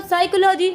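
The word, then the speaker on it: psychology: बोल रहे हैं आप साइकोलॉजी लिख रहे हैं उसको पी से।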